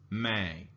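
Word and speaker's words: मैं: for I which is Mei in Hindi now this has a slight nasal sound at the end of it so it's kind of like you're you're you can feel your nose shaking a little bit so if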